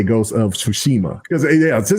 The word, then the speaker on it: Tsushima: Pronunciation. He says, you still can't say Yoshima. Tsushima.